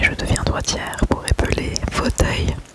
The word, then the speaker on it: fauteuil: Fauteuil.